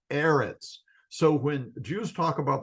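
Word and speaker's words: אֶרֶץ: about the promised land the vowels underneath the consonants in erit are two SEALS or E sounds and it would be pronounced erit so when Jews talk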